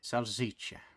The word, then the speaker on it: salsiccia: How's bit that pronounced again so I don't fuck it up horribly? Salsiccia.